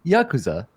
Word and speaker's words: Yakuza: criminal syndicate to which you're referring is the Yakuza Oh the Yakuza majima I'm playing majima mad